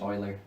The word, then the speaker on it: Euler: with big you there's me you but it's pronounced Euler so um the reason this works is if